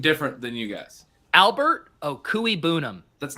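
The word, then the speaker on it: Okwuegbunam: Pronounced Okuibunam. I've had it. Okuibunam. Okuibunam.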